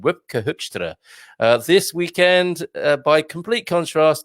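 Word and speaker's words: Wopke Hoekstra: She's Dutch and she likes my pronunciation of the Dutch minister's name, Wipke Hoekstra.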